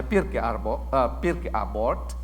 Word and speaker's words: Pirkei Avot: Cara membacanya Pirkei Avot, artinya the ethic of the fathers.